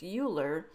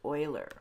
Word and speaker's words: Euler: educated people pronounce this uler and it looks like it should be pronounced like that but in fact it is pronounced Oiler okay so here is